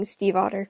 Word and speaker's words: Stiefvater: I know I'm definitely pronouncing Stiefvater correctly because I've looked that up, I know.